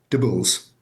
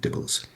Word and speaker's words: DIBELS: Is it dibbells or dybells? Or is the B silent? What What's going on? It's dibbles. It's like cheesy dibbles, but without the cheesy bit.